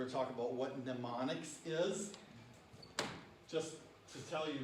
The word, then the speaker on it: mnemonics: to talk about what mnemonics is just to tell you this m is not pronounced it's mnemonics go ahead and say that mnemonics and then you guys